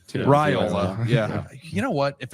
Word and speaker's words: Raiola: He's going to learn how to pronounce his name too. Raiola.